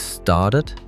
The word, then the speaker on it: started: So it is started and decided because they end in T and D. But it is opened with a soft D sound and looked with a sharp T sound.